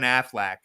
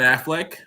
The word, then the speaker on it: Affleck: And I like Ben Affleac, so I might have to go see. What did I say his name wrong? Yes. How do you say it? Ben Affleck. Oh, I said Ben Affleac.